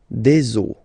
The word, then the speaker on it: eaux: but then same rule, you don't pronounce it. Des eaux, okay? Une eau, des eaux, all right?